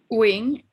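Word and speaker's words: Nguyen: Wing, N-G-U-Y-E-N. And it's pronounced Win.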